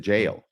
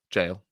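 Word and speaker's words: gaol: Gail or is it Jail jail g a o l it is pronounced jail okay anyway and it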